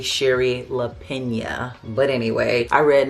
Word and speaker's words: Shari Lapena: say her name because if you just look at it, it looks like it's Shari LaPena, but it's really Sherry LaPena.